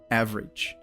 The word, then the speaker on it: average: it is said right the syllable that has the emphasis there is the first one is like a and then the the rest of the word you can say it pretty quickly like bridge bridge average